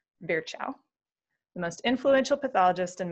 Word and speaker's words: Virchow: sure we all remember rudolph virgo which is apparently how you pronounce virchow the most influential pathologist